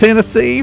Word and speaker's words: Hennessee: do it again when your last name rhymes with Tennessee it's only fit yeah Chris uh Chris Hennessee from Tennessee absolutely glad